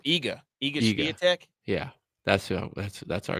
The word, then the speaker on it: Iga: How do you say her name? Igia? What? Oh, Iga.